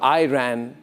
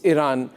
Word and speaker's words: Iran: It's not Iran or Uran. It's Iran.